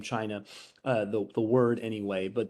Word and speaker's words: Qin: 800 years and the state of chin it's spelled q-i-n but uh it's actually the root of the the name china uh the word anyway